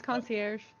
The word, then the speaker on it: concierge: to pronounce that word is it concierge concierge you do the air yes yeah it's concierge that seems really American